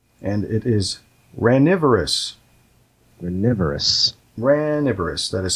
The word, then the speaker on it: ranivorous: The third word is starts with an R, and it is ranivorous. Ranivorous. Ranivorous. That is spelled R-A-N.